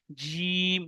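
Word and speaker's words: جيم: এর সোজা উপরে তালু, এর সোজা কি উপরে তালুর সঙ্গে লাগিয়ে উচ্চারণ হয় কি জিম। বলুন আমার সঙ্গে সকলে বলুন জিম। জি, শিন, ইয়া। যে এই জিহ্বার বিস্কানটি উপরে তালুর সঙ্গে লাগবে। উপরে তালুর সঙ্গে, আমার যে তালু আছে ওই তালুর সঙ্গে লাগবে, তাহলে সঠিক উচ্চারণ হবে জিম।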